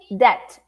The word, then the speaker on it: debt: is I am in debt. I am in the red, no money in the bank. I am in debt. Repeat. I am in debt. Yeah, and the B is silent, okay? In debt.